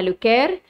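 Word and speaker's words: Le Caire: اما بالعاميه هقول له القاهره زي ما انا بنطقها بالعربي يا اما هقول له بالفرنسيه اسمها لوكير يا اما هترجم له ايه اسم القاهره دي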